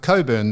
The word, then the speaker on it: Cockburn: So, she calls herself Coburn. The C K is silent as in um as in sex.